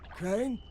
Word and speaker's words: Crane: the video store no my name's crane crane crane rhymes with train and brain and San and Grain and rain and Plaine and the other kind of plane and and but can